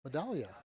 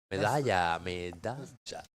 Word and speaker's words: Medalla: Medalla. Like double L sounds like a ja. Like a ja. Okay, medalla.